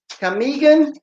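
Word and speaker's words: Camiguin: And we wanted to go to Camgulan? Camgulan? How do you say that, Mercy? Camigan?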